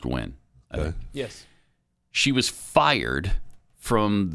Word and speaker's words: Nguyen: i think it's jenny nguyen ngu y-e-n seems like that's pronounced gwen yes she was fired